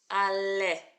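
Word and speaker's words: עלה: So we've got our silent letter. A, our lamed, le, and our hey at the end. Ale.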